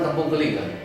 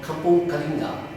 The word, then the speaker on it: Kampung Kalinga: This is Kampung Kaling. But actually, it's called Kampung Kalinga. But along the way, the vocabulary and every walks of life is changing, and then the pronunciation, the lingo of change to Kampung Kaling.